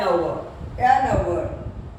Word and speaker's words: hour: So we use an hour. Honest. H is silent.